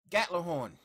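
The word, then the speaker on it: Gjallarhorn: gun in the game gatler horn that is the proper pronunciation of gatlinhorn you can call it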